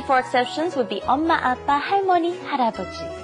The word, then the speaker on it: 아빠: 아빠. Appa. 아빠. Rhymes with oppa.